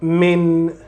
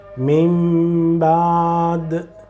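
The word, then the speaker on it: مِنْ بَعْدِ: So mim, mim, not min, mim.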